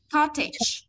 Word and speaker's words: cottage: Mà như thế này phải đọc là shortage, shortage và cottage, cottage.